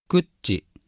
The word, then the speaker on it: kutci: So, for example, the following words have the accent on the first syllable: aynu: person, and actually